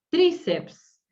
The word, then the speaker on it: tríceps: Tríceps, ¿sí? Tiene la sílaba tónica en la I, por lo tanto, grave, ¿sí? Terminada en vocal. Tríceps, tríceps. Acentúan la I, ¿sí? Grave, terminada en vocal, pero tiene una I tónica, ¿sí?